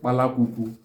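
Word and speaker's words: palaququ: Sparrow is called palakuku in Igbo. Palakuku. Palakuku is spelled as P-A-L-A-Q-U-Q-U.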